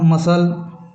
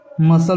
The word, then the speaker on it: muscle: शुरू वाला उसी प्रकार मसल मसल में भी सी का उच्चारण नहीं होता।